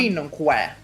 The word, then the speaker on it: cinque: No, that's how it's pronounced in Italian. You pronounce it like ch.